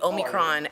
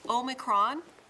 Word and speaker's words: Omicron: how to say it, she taught us it's like Omaha, right? That's right. I thought that was for There's actually an American pronunciation and a British pronunciation. Can you give us the difference, Chloe? Omicron and Omicron. Got it. So we say Omicron. We say Omicron. Omicron. In the US, but Omicron. over there, across the pond, Omicron.